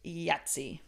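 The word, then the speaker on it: Thjazi: kidnapped by this guy named yatsi is how you say it y it said yatsi it's not spelled like that at all it's like T HJ a zi Yi yatsi so yatsi tells him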